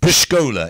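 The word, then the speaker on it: Pszczoła: polish superstar Pepsi yes post Cola is the way you say his name by the way and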